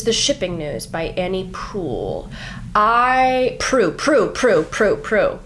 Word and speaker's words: Proulx: The Shipping News by Annie Proulx. I Proulx Proulx Proulx Proulx Proulx Proulx. I looked this up and I have to remember that that's how you say it.